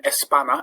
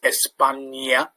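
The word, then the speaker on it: España: gives it the n sound so rather than espana is espana and the v more often than not in spain the v is pronounced a bit like the b so rather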